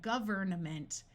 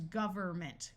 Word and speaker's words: government: suffixes governing and government notice that in this word the n Sound usually completely disappears and rather than saying government it becomes government with the N disappearing